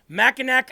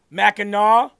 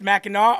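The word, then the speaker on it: Mackinac: all week and it said, "If you hate Machinak Island, then you hate Michigan." It's that simple. because apparently it represents Michigan families and their history. Meno. Meno is how it's pronounced. Meno.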